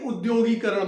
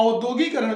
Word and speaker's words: उद्योगीकरण: और उद्योग से ही उद्योगीकरण बनता है। तो जब उद्योग है, उद्योगीकरण है, तो औद्योगिकरण कहां से आ गया? औद्योगिकरण अशुद्ध है, इसलिए हमें उद्योगीकरण लिखना होगा।